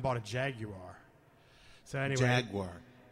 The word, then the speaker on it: Jaguar: So anyway, Jaguar. It's actually pronounced Jaguar, but we won't argue that.